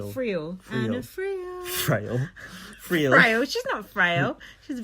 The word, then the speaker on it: Friel: Is that how you pronounce it? Frail? Friel.